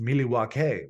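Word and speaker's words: Milwaukee: worthy we're not worse it's actually pronounced miliwake which is Algonquin for the good land I also love listening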